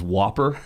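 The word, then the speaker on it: WOPR: be hurt or not because the way you pronounce that computer's name if I remember now was Whopper, right?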